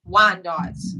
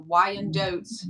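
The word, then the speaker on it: Wyandotte: a few left um wine dots or W and dos however You' like to pronounce it w y a n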